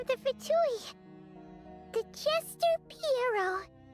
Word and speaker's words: Pierro: Pierro. Pierro.